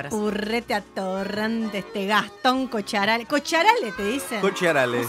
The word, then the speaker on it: Cocchiarale: Cara de purrete atorrante, este Gastón Cocharale. ¿Cocharale te dicen? Cocharale, no sabía, sí. Que es, tendría que ser Cocharale. En realidad es Cocharale, pero acá lo argentinizaron.